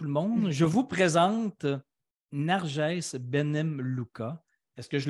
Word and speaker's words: Nargès: Écoutez tout le monde, je vous présente Narges Benem Luca. Est-ce que je le prononce bien, ton nom? Tu es parfait, Daniel, Je le prononce loin. très bien. Narges est tunisienne et française.